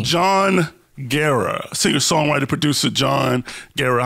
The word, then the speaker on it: Guerra: You say it Guerra. Like Sarah with a G. Jon Guerra.